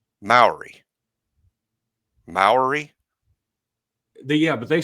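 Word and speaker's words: Mowry: M O W I mean pronounce that. Say it. M O W R Y. Moury. Moury. Yeah, but they say Mory.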